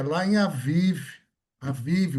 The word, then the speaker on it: Aviv: Aviv se escreve a Bib na Bíblia em português, mas é Aviv que se fala, tá?